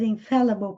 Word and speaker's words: infallible: Infallible, prestem atenção na pronúncia. Infallible, eu até coloquei aqui os símbolos fonéticos. Esse A com o E grudadinho é o som E. Infallible. Esse E virado de cabeça para baixo é um A.